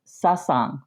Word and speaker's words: Sasang: It doesn't have a T in it. That's that's sort of a meditation group in Buddhism. A satsang. Um, this is sassang with no T.